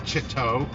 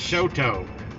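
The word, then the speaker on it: Chouteau: and stuff and I'm like no it's not pronounced Chitto it's Shoto though it's not gravis it's Gravois no it's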